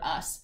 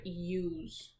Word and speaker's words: use: make the word use what letter do you think we need to put at the end there to make the word use type that's silent e it makes the vowel turn into a long dowel or say its name you we hear that you is saying its name use so we add that